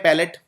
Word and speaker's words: palate: एक शब्द होता है अंग्रेजी में जिसे बोलते हैं पैलेट, लेकिन स्पेलिंग देखिए, PALATE।